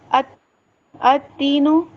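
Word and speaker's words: التين: Retain में है लेकिन लाम साइलेंट है। डायरेक्ट हम क्या कर रहे हैं? अ तीनु ता में मिला दे रहे हैं।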